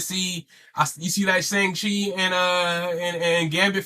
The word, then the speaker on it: Shang-Chi: put some respect on my Shang-Chi's name.